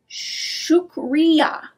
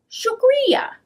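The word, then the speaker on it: شکریہ: is how you say thank you and urda shukriya sugria many pakistanis speak more than one language lots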